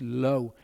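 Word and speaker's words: לא: so a ho lam makes an o sound so lamid alev taking the vowel makes lo when you say lo some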